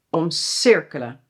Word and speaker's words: omcirkelen: Laten we beginnen met omdraaien en omcirkelen. Je hoort ook alweer het verschil in de klemtoon, denk ik. Omdraaien, klemtoon, omdraaien, dus die is scheidbaar. En omcirkelen, dus die is onscheidbaar.